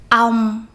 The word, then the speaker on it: ong: Ong, ốc, ong, ốc, ong, ốc.